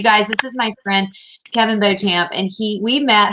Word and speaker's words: Beauchamp: and let me correct you for my followers correct here we pronounce it beecham here beacham i'm sorry i always